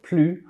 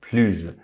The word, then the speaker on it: plus: Finalement, for the equivalent expression of the more, which is plus, written down anyway, it's either pronounced plus or plus, depending on what follows. Consonant, vowel, or silent H.